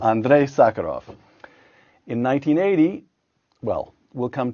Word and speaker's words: Andrei Sakharov: Pronounce it for me, Yuri. Sakharov, yes. The first name, though. Andrei Sakharov. Andrei Sakharov.